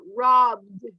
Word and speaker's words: robbed: Everybody put the finger in the throat and pronounce this word, robbed. When you pronounce this word, you have a vibration in your throat. So if you put your fingers, you're going to feel that vibration. So this is like a letter D, the pronunciation that